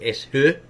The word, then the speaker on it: Ashur: Here it has Ashur, because the Greeks don't have the sh sound in their language, so why is it they've put Ashur?